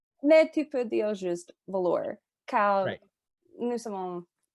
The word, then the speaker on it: Velours: The stage name is pronounced Velours. Silent S on the end. Velours. It's French.